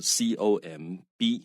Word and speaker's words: comb: 在标题，尤其新闻标题，很多东西都会被简化哈，所以在这里我们就直接用现在式啊。然后呢，这个另外要注意这个发音哈，tomb 啊这个字呢，坟墓的意思哈，或者墓。那这个字首先要注意它的 b 是不发音的。那另外有一个字跟它拼法非常像，b 也是不发音哈，就是 C-O-M-B 啊，comb，那个是梳子的意思。但是除了这两个字 b 都不发音之外，另外要注意的，它母音不一样啊。这个字呢。tomb 是这样念的哈，不要念 tome 哈。很多我碰过很多学生把这个字念成 tome。